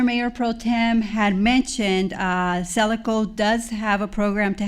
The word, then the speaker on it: Selaco: And as our Mayor Pro Tem had mentioned, Celico does have a program to help local businesses affected by COVID.